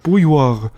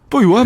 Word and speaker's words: bouilloire: It has an R, a UI, a double L. And she says the UI plus double L is so hard for Anglophones to pronounce. She can't even spell it, she says. And what's with the E at the end?